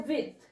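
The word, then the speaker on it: huit: है सेवन ठीक है और आगे आता है विथ एच यू आई टी विथ eight को बोलते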